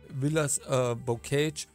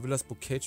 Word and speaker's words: Villers-Bocage: Britische Panzertruppen und Befehlshaber sind heute Morgen vorgestoßen und haben Villers-Bocage, jetzt glaube ich im Englischen, oder Villers-Bocage im Französischen ausgesprochen.